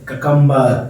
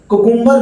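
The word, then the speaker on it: cucumber: कुकुम्बर भी कहते हैं इसको, लेकिन शुद्ध प्रोनाउंसिएशन इसका ककम्बर है। कुछ लोग कुकुम्बर भी कह देते हैं, लेकिन ये वास्तव में ककम्बर ही कहलाता है।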